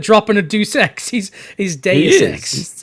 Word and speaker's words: Deus: Say it right. Say Deus. Delays? What? No, say his name right. You said Deuce. His name is Deus.